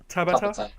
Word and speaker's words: Tabata: Tabata. It's like a Turkish meal.